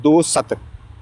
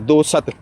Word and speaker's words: दोस्त: एक चीज़ ना, जैसे एक लफ्ज़ है, फारसी का लफ्ज़ है दो सत, ठीक है, अब इसकी रियल प्रोनाउंसिएशन ये है दो सत, फ्रेंड, ठीक है, लेकिन पाकिस्तान में या दीगर इलाक़ों में इसकी गलतुल आम हो चुका है दोस्त, ठीक, तो अब सब